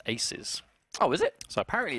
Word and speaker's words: 2z: indeed now we've been told that two is pronounced Aces oh is it so apparently it's Aces versus Rush B but like you said right